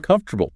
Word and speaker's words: comfortable: Tech- technically, it's four syllables, but comfortable. Right. But a native speaker drops an entire syllable and just smashes the consonants together saying, "Comf- -ortable." Yeah, definitely say it like that.